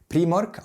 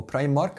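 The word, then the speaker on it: Primark: في مكان هناك او في مكان هنا في المانيا اسمه بري مارك او برايم مارك حسب الناس بتنطقها ازاي، وفي مكان تاني اسمه سي اند اي.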